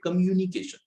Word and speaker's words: communication: अब देखिए इसकी जो सही प्रोनाउंसिएशन होती है वो होती है कम्युनिकेशन। लोग इसे कम्युनिकेशन बोल देते हैं, कई लोग इसे कम कुछ और ढंग से बोल देते हैं, लेकिन जो इसकी सही प्रोनाउंसिएशन है that is कम्युनिकेशन। Come uni, कम्युनी, तो कम्युनिकेशन, कम्युनिकेशन।